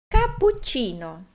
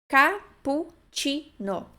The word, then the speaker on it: cappuccino: Mas a dificuldade talvez seja porque pense que tenha uma outra pronúncia, mas não. PU é PU, mesmo que tenha dois P's. CI é Ti, mesmo que tenha dois Cs.